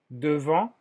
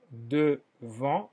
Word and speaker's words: devant: Devant, enfrente. Devant, en el sonido nasal, en, devant.